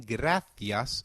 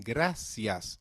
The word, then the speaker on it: gracias: bien gracias great again we say bien gracias in Europe and bien gracias in Latin America now that you know